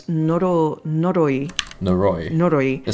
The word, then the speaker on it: Noroi: Like one of the movies I watched recently is Norai. No, it's Noroi.